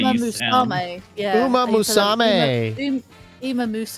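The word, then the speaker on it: Uma Musume: Umamama. Oh, God. I'm sorry. I mispronounced it again. He says it's pronounced Uma Musame.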